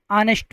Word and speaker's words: honest: यह जो वर्ड लिखा है ऑनेस्ट यहां पर जो एच लेटर है यह साइलेंट है। इसको हम ऑनेस्ट प्रोनाउंस करते हैं।